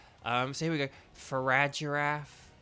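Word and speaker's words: Farigiraf: so here we go farad giraffe I as I call it with the soft G um oh slithering I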